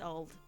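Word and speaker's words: Olde: I found out that even though it has the E on the end you actually it's just still pronounced old that's just that's just how they spell things but it doesn't actually affect the pronunciation which might make it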